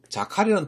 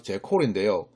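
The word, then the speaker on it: jackal: 이번엔 자칼이라는 동물은요, 어디서 나왔냐면, 발음은 정확히 제콜인데요.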